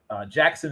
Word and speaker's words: Jaxon: And Jackson is spelled Jaxon. Smith is Smith, and then it's hyphenated with Njib. So it's Jackson, Jaxon.